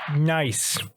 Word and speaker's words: gneiss: What is nice? Wait, what? I can spell this word, but it's pronounced nice, and it's GNEISS.